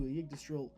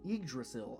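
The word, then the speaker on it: Yggdrasil: Further actions on your organization's part that contribute to agistril I keep saying that wrong. Egrasil I think is how that's pronounced.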